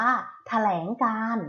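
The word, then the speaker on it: แถลงการณ์: นี้ ว่า อะไร เอ่ย คำ นี้ อ่าน ว่า แถลง การณ์ นะ คะ คุณ ครู มี คำ อ่า ไร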